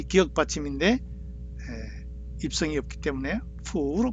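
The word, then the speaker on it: 伏: 그래서 중국엔 입성 기역 받침이 없기 때문에 푸로 발음하죠. 푸.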